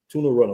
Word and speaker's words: Tune Runner: It's Tune Runner. Tuna Runner. Okay, let me like music tune.